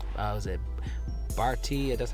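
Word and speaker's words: Berti: I like was it Barty? That's how you pronounce it.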